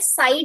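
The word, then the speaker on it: psi: को डिनोट करता है साई डब्ल्यू से। ये जो सिंबल होता है ना इसको बोलते हैं पीएसआई, पी साइलेंट रहता है।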